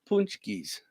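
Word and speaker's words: pączki: Punchkis, it's pronounced.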